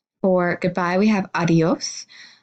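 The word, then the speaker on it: adiós: or goodbye we have adios it's very important to recognize that your stress is gonna be on the last syllable and the bowels do merge together a little bit adios and see you later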